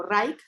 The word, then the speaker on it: Reich: A ver al ser humano como si estuviéramos hablando en términos plenamente de Wilhelm Reich, o Reich, que es como se pronuncia, estaríamos...